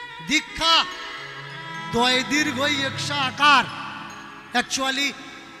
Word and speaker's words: দীক্ষা: দিলা না ভাই অধর্ম কোন কাজে আসবে না দীক্ষা দয় দীর্ঘা আকার একচুয়ালি উচ্চারণ হবে দীক্ষা কিন্তু চলতি ভাষায় আমাদের বলা লাগে দীক্ষা বলা